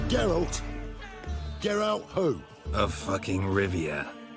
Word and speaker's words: Geralt: little come on Gerald you say geralt it's a geralt get out who a